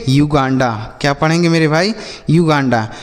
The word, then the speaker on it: Uganda: तो अगर यू के साथ एक वावेल लिखा हो, मतलब यू के बाद एक अक्षर छोड़ने के बाद लिखा हो, तब हम यू का उच्चारण यू करते हैं। ठीक है, जैसे यूनिट, यूनियन, यूनिक, युगांडा।